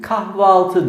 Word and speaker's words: kahvaltı: Kahve altı dediğimiz zaman bir kaynaşma var. söyleyiş güçlüğünü gidermek amacıyla biz buna bugün kahvaltı diyoruz.